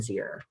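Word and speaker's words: ze: A new one for folks on this call might be Z, Zir, and Zir. Tyler ate Zir food because Z was hungry. Again, Z is pronounced Z-E-E, and Zir is pronounced like here.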